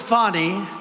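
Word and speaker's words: Fani: counts he worked with fonnie even though it's spelled Fanny F A ni I fonnie how about that one how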